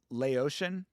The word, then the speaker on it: Laotian: It's pronounced Laotian.